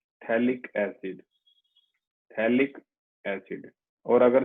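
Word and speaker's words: phthalic: बिल्कुल, ये थैलिक acid है, ठीक है, P साइलेंट है, थैलिक एसिड, थैलिक एसिड।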